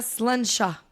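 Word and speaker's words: Sláinte: Donc on peut vraiment le dire en trinquant comme je dis mais on le prononce vraiment sluncha.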